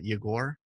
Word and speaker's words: Yegor: for everyone it's uh igor with the emphasis on the o and jagor not born